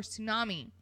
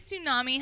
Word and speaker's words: tsunami: on pause why does tsunami have a tea in front of it because the T is silent but in what language is the tea silent in anything apparently in tsunami it is okay I